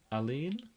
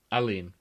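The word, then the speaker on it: Aline: Uh Alen Alen is how that's pronounced.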